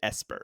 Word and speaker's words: Esper: Is it Esper or is it ESP, or like, oh, you're psychic, you're an ESP, or I think it is technically the second, but you pronounce it Esper. Like, it is Esper.